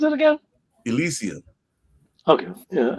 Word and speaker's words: Elysium: How do you pronounce it again? Elysium.